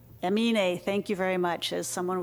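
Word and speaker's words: Aminé: You know, some of you may know this artist, and I don't think I ever pronounced his name correctly. Emine? Emine, thank you very much.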